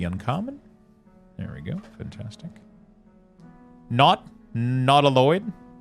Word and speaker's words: Nautiloid: Nautiloid. Nautical, but Lloyd. Not Eloid. Not Eloid.